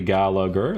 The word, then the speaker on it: Gallagher: So it is helpful that I was about to say I'm not pronouncing his name correctly. Gallagher.